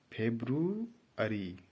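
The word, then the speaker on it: February: नहीं अर्थात जो बोलेंगे इसका उच्चारण है फेब्रुअरी कि फ़ेब्रुअरी यहां पर देखिए बाद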